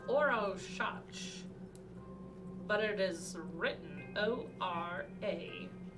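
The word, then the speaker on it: Orašac: It is pronounced Orshach, but it is written O-R-A. S with a little downward caret above it. A-C. Pronounced O-R-A-S-H-A-T-C-H. Orshach.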